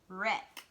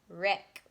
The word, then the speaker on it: wreck: then an r but you can't hear the w the w is silent all you can hear is the er okay so err wreck wreck what about check check